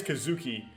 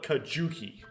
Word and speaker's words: Kazuki: condition it probably is Kazuki they follow it's likely a z sound a zoo in Japanese and because there's no Zu in Hangul they spell it kajuki and I've been mispronouncing